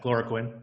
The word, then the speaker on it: chloroquine: the word lurid or I mean it's pronounced chloroquine yeah okay you you